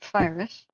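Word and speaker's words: FIRIS: I found out they pronounce it Firus.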